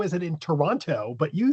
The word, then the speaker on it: Toronto: You pronounced Toronto correctly. Oh, thank you. A lot of people You did not pronounce the T, which is a lot of people say, "How is it in Toronto?"